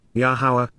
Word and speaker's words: Yahowah: with, Kal imperfect cohortative, Yahowah, Yahowah, the Almighty's proper designation pronounced as instructed by His Torah, guidance on His higher, existence and His role in our Shalom, reconciliation as our Eloah, God.